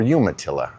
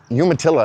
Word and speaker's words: Umatilla: Welcome to Umatilla, or Umatilla, I believe it's actually pronounced.